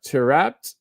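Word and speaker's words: Taarabt: me a bone too said it's pronounced uh terat awesome well uh to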